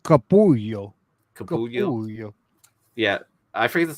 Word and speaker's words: Capullo: That's Capullo's signature, right? Yes, it looks like yes. Yeah, I forget the title of this book. But it's pronounced Capullo.